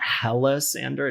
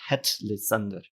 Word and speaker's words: Hellissandur: So it's not Hellisander, it's Hellissandur. And it's little things like